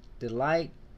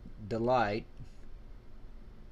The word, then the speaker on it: D'LITE: if that makes sense i pronounce that delight looks right to me i believe these were